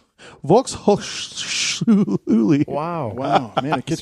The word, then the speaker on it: Volkshochschule: one that I'm going to be good at pronouncing, but I'm just going to throw it out there. Well, that's a first. Volkshochschule. Right. Volkshochschule.